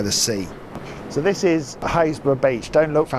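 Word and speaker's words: Happisburgh: So, this is Hayesborough Beach. Don't look for Hayesborough on a map cuz it says Hapersburg.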